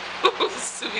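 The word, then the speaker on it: Suubi: Subi, Subi, Subi. At least that's how I pronounce her name.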